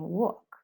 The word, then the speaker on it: walk: This is another story because the L is a consonant, but have in mind that in walk and talk, you don't pronounce the L, right?